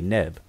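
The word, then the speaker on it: nb: And also, they're both pronounced the same by means of today's conventional pronunciations. We say neb.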